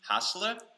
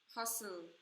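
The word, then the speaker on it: HaSeul: Hassler? Change? What? Someone is clarifying how to say the name. Hassler? Hustle.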